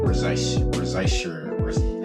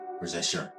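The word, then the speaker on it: Risacher: Zach Rezaisher, how do you say this? Zachary Rezaisher. It's like Rashard. Rashard. Yeah, it's like the ER you don't really pronounce.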